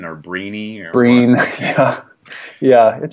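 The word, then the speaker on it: Brené: want to dabble in that first but uh brine Brown is her name I'm just glad that I finally got that pronunciation down I I thought it was I didn't know if it was Bran or breeny or Breen yeah yeah it should maybe come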